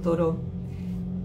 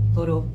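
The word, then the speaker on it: Thoreau: porque me acordé de esta frase amo a toró Henry David toró se escribe th h o r e a u toró estamos hablando de 1854 pero da una frase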